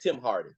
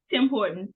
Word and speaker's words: Tim Hortons: Let's meet up tomorrow morning for breakfast at Tim Hardy. Tim Hardy. I'm pronouncing it right. Tim Hardy did a restaurant there. Tim Hortons, but yes, you're okay.